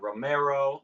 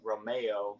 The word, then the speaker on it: Romeo: Because my last name is Italian origins, people sometimes say Romero. I used to say Romeo because that's how it's pronounced. But now I just stick with Romeo. It's the easiest.